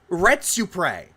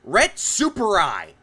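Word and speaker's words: Retsupurae: It's pronounced Retsupre. He pronounces it as Retsuprai.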